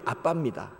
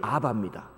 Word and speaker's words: 아빠: 우리 히브리어로 그대로 읽으면 아빠입니다. 영어식으로 읽으면 아바입니다. 영어식으로. 영어는 자음이 겹치면 발음을 못 하거든요. 영미 사람들은. 우리같이 아빠라고 발음을 못 합니다. 그래서 거기는 아바고, 우리는 아빠라고 부르고, 히브리어는 발음이 우리나라와 많이 비슷합니다.